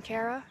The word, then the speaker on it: Kari: know how to say my name Cara because it's spelled with an eye k-a-r-i so she didn't know